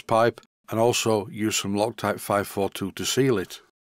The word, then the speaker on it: Loctite: to this view of from Sweden it is pronounced Bako here I'm going to use some lock Tity 542 to make sure that nothing leaks this stuff is really good it's actually pronounced loc type 542 and I always use it anywhere where